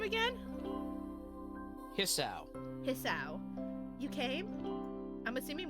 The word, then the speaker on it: Hisao: Hisao.